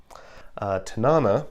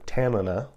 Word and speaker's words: Tanana: Tanana, or Tanana, as it's pronounced actually in Alaska, is a place in